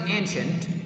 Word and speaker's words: ancient: As I discussed, guys, the syllable like C-I-E we pronounce as sh sound.